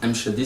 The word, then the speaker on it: M'Shaddy: C'est bien M. Chadi? M. Chadi, c'est parfait.